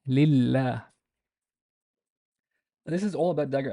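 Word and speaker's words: لله: And we pronounce this lillah, lillah.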